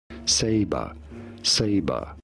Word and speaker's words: Sabre: is the McLaren Sabre, or how do you pronounce that? Sabre.